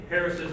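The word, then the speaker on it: Harris's hawk: of applause Harris Hawk or Harris's it's actually Harris's apostrophe s it was named after he should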